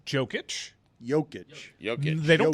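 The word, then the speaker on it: Jokić: saying his name wrong is it yogic or joking is it I did it wrong first it's like yogging with a soft J but Mike will really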